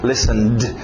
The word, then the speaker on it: listened: é o som de ed, realmente, ou é o som de t, ou é um som de um d, no caso aqui um d, listened.